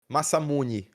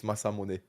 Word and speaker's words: Masamune: You you you can say like masamuni masamuni instead of masamune but I've watched anime enough to to know that that the the the right way to say it is masamune you know.